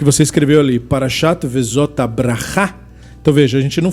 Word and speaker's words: Bracha: Então, por exemplo, no que você escreveu ali, Parashat Vezot Bracha. Então veja, a gente não fala Beracha, né? A gente nem Beracha, a gente fala Bracha. A ênfase no final da palavra.